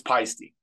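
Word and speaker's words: Paiste: feisty symbols or pasty how do you say it what's the correct it's feisty feisty that's all I've always said it and then I always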